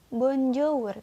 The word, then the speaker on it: bonjour: Tulisannya bonjour, tapi kalian bacanya bonjour.